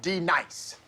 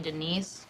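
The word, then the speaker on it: D'Nice: Now, D nice. Do you mean Denise? Son of a bitch! You say your name right now. Denise? Say it right. Denise. Correctly. Denise. Right. Denise. Right. D-nice. That's better.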